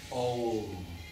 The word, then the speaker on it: Om: Try and pronounce that Om at the beginning. It's really important. Bring the lips together and just linger as long as you can.